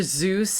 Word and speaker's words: Seuss: you guys heard that dr zeus is actually pronounced like soyuz no there was a